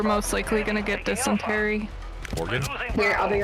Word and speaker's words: Oregon: Oregon.